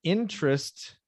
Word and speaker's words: interest: uh good yeah so the first time you said interest and now interest because this the stressed syllable is the first syllable interest interest one minutes i'll give